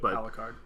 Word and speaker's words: Alucard: Yep, Alucard.